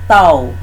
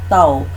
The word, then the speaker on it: tau: pita-pita cuman satu kaki bacanya tahu jadi simbol ini dibaca tahu besarannya adalah torsi Raja